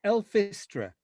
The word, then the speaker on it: Elfistra: Is it Elfistra? It's Elfistra.